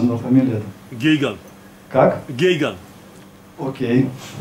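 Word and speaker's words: Geoghegan: и вот Питер, который фамилию я не буду произносить. То есть я его знаю лично, но фамилия это... Гейган. Как? Гейган. Окей. Гейган, окей.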